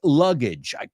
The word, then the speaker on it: luggage: The next one is luggage. I want everybody to pronounce it porque es este aje que es ij, que es puente, rima con puente. I left my luggage on a bridge.